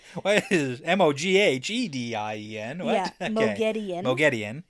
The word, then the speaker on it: Moghedien: And I love how they say her name correctly. Moghedien? Yes. Yeah. Not Moghedien. Moghedien.